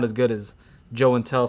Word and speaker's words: Joe and Tell: My channel is obviously called Joe and Tell because Joey doesn't really sound as good as Joe and Tell, so it rhymes with show and tell.